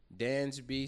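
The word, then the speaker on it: Dansby: Danby Swanson.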